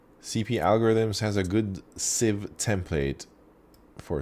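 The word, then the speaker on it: sieve: template wait is it is it pronounced seeve I forget if I'm mispronouncing it Civ Civ it's a Civ I knew it I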